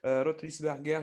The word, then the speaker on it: Rothlisberger: Avec grand plaisir, j'ai le plaisir d'entendre Monsieur Axel Rotlisberger. J'espère que je prononce bien votre nom, je m'excuse.